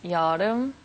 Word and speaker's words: Yeol Eum: a problem oh no we never learned to pronounce correct your name you have to teach me once again okay um it's yarom joram joram yeah like Walmart like the Israeli name